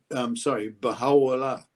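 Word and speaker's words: Bahá'u'lláh: And that is pronounced, Baha'u'llah, glory of God.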